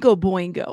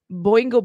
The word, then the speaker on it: Boingo: Oh, and by the way, the band is Boingo. I did have to look at pronunciation. Okay. Boingo Boingo. That's the name of the band.